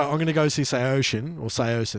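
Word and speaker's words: Saosin: Apparently, the official way to say it is Seosin. Seosin, yeah. Disagree. They themselves say it's Seosin.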